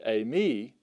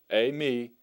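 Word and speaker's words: εἰμί: later on but for now just know that a me a me is how you pronounce that notice the D thong Epsilon ioda and then you have moo and then the ioda a me that means I am I am and uh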